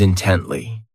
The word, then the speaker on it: intently: Next is intently. This adverb has 3 syllables, and the stress is on that second syllable.